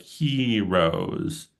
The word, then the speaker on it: heroes: Um so um the first one uh we have the pronunciation of heroes that it goes like heroes it has that h like the um h sound in English.